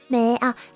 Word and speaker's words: 目: So, it depends on the kanji character, different meaning, but same pronunciation. Me. Me.